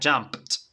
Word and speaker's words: jumped: va a transformar a jumped Okay y la pronunciación va a terminar con t pronunciación con t listo